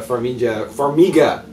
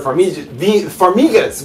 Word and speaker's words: Farmiga: It's Vera Farmiga.